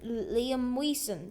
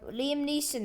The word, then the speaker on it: Liam Neeson: actually real liam neeson liam wiesen that is not how you say his name um liam neeson that is real him